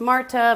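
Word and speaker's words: Märtha: But it's called Atlantic Crossing, and it's about a World War II relationship with FDR and Norwegian Crown Princess Martha, which he said is pronounced Marta, but I wasn't trying to get into accents.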